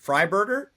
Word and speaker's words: Freiburger: gonna guess with Freiburger. Yeah, that's correct. Yeah, it's right. German origin. So usually when it's a EI and it's a German origin, it's pronounced with an I.